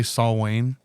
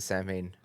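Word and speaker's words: Samhain: Yeah, he was like, dude, it's Saul Wayne. Because he's a hardcore Misfits fan. No, dude. Danzig, everyone pronounces it Sam Hain.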